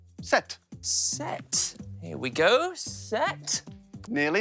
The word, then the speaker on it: sept: We have to watch out for silent letters in French. We've already had them in deux, trois, and sept.